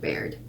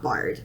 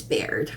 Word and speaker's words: Baird: sorry i apologize but it's blithe beard not barred it's bared if my body could